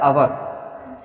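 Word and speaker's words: hour: सकता है हा बोलिए आवर जो है उसम एस साइलेंट होता है ए साइलेंट होता है उसको पढ़ा जाता है अवर और जब अवर पढ़ते उसको तो उसमें बोबल आ रहा है आ का देखिए ये लिखा है अवर इसको हम पढ़ते हैं अवर और आ क्या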